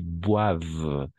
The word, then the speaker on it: boivent: plus de Français qui boive d'accord e n t on ne prononce jamais ici non ici non